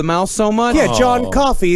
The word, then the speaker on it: Coffey: Yeah, John Coffey. It's like the drink, but it's not spelled the same.